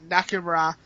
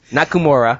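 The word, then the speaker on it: Nakamura: is the IWGP Intercontinental title match between shizuki nakuma um I butchered the out last name nakura yeah nakura there you go yeah is uh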